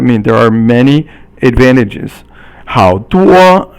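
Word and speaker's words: 好多: 好多, 好 is third tone, and 多 is first tone, and it means a lot.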